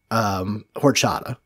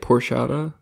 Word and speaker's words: horchata: It's just it's liquor and so rum chata is alcohol in horchata. And dude, it's good. It's really fucking good. How do you say it? Porchata? Horchata. Port? H-O-R. Okay, that H-O-R.